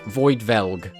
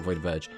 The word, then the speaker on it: Void Velg: not a fan of void velg it's void Vel not void Verge void velg I get it the r is kind of hard to pronounce whatever but like it doesn't